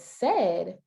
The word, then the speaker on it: said: But said is not pronounced the way that it is spelled. Said is a sight word.